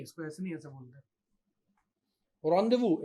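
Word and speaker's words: rendezvous: रॉन्डेवू एक word होता है इंग्लिश का, आप कभी उसकी स्पेलिंग देखिएगा कितनी भयानक होती है, लेकिन उसको बोलते रॉन्डेवू है।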